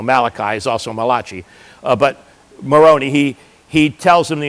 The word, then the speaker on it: Moroni: a time and then the angel moroni rhymes with macaroni so must be italian the angel moroni of course he's not